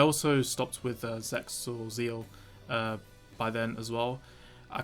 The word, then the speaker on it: ZEXAL: I always forget it's Zeal, not Zexal. The X is meant to be silent.